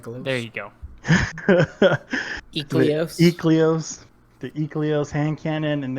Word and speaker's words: Ikelos: that hand cannon, or how do you guys pronounce that? Ikelos? There you go. Ecleos.